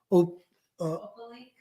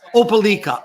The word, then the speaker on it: Opelika: And last but not least, pronounce this for me, Gail. Opalik? I don't know. Opalik, excuse me, not Gail, the producer. Opalik Songwriters. Opalika. Oh, I'm sorry. Opalika Songwriters Festival.